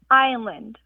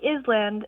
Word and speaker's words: island: Why does island have an S in it? And why is it pronounced with a long I?